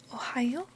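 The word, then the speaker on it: おはよう: So, can you say Ohayo, Ohayo, ohayo and ohayo gozaimasu. Ohayo gozaimasu. And you'll notice two things from this phrase. One, this part is pronounced yo, but it is written with a u, hidakana letter.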